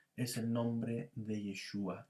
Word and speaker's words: Yeshua: se nos ha revelado, el nombre de Yeshua, y es el que nosotros podemos mencionar en forma clara, ¿ya? Yo sé que por ahí también hay otras pronunciaciones como Yahshua o Yahshua, pero la verdad es que